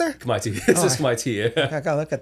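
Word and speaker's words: Khmer: A lot of people say Kamir. If you hang out enough Cambodian people, it's pronounced Kami.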